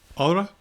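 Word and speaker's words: ὥρα: Hora, meaning time, or hora, because normally there's an H and silent H in front of the O.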